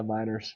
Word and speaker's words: Meinerz: Quinn Meinerz? Yeah, Miners.